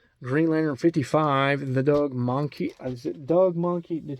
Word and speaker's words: Mahnke: Now, I usually say Doug Mahnke, like the Pokemon Mankey. But I'm going to try to sound intelligent here and lose the Alabama accent. Mankey. Doug Mankey. Doug Mahnke. That's how I will pronounce it today.